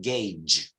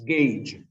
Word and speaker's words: gauge: straight to the pronunciation you pronounce it Gage Gage gauge gauge okay then when I'll send you the files click check if you want the pronunciation the Oxford dictionary but believe me it's pronounced gauge how I mean with